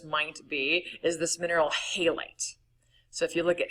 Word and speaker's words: halite: Or halite, but halite's how it's usually pronounced.